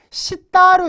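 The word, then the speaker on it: 下: 9번 아래 하자 아닙니까 하를 어떻게 읽 냐 음은 카 또는 개 에다 타은 개도 읽고 또로도 읽어요 근데 여기서는 음으로 읽으면 안 되고요 어 훈으로 읽어야 되는 거죠 자 아래라는 시다로 읽어 주셔야 됩니다 위에는 뭡니까 우 에가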